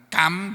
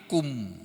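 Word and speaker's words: كُمْ: di atas huruf dhammah, makanya membacanya bukan kam, bukan kim, tapi kum gitu.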